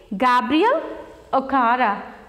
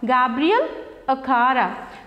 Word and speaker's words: Gabriel Okara: The writer of this poem is Gabriel Okara. How do we pronounce his name? Gabriel Okara. Gabriel Okara.